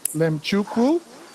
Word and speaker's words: Mlemchukwu: I'm pronouncing this correctly LM chuku wow you did a great job yeah yeah yeah lot people like how do you say l i fig the m is silent I mean yeah it's